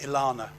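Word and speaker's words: ELaNa: The other thing they have, which I think is coming up, is I think they pronounce it Ilana.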